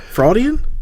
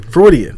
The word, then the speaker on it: Freudian: today for this Daniel Caesar project type of fraud Ian Freudian Freudian yes how do you know it pronunciation thank ya so what do we know